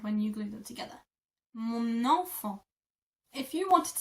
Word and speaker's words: mon enfant: To say that in French, you would say mon enfant. Mon enfant. Mon enfant. Because mon ends in an N and enfant starts with an E, you kind of glue the two together.